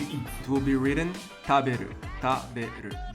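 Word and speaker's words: 食べる: It will be written taberu, taberu. The first part is the kanji and pronounced ta. Then you have the syllabic alphabet, hiragana, be and ru.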